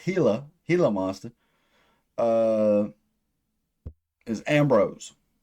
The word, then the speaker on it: Gila: like and uh uh Gila monster which also is supposed to be pronounced hila Gila monster uh is